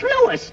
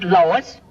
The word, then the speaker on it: Louis: the plant Lois Lois my name is Lewis not Lois everybody interpolates me name wrong it's Lewis l o u i s lowers uh Louise Lucy